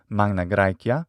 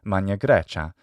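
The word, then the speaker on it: Magna Graecia: city-states in the south which is called magna gracia in the restored classical pronunciation of latin or mania gracia in the ecclesiastical or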